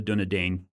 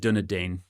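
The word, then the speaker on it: Dúnedain: Yeah, I always said Dunadane growing up. Not Dunadine. Well, the movies say Dunadine, so I assume that they're correct, right? I mean, Christopher Lee would give them an earful if they were pronouncing it wrong.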